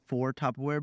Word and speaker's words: Tupperware: in peace I think we should get like Tupperware bins not topware bins what are they called